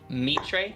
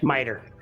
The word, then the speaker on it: miter: It would kind of make sense though, because I have the stolen meat tray. Is that how you pronounce it? Meat tray? Miter.